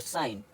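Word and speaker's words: sign: इसी तरह इसको पढ़ेंगे रिज़ाइन और साइन। एच एच एच साइलेंट कब होता है?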